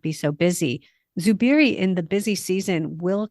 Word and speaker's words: Zubiri: Zubiri. It starts with a Z, pronounced Zubiri.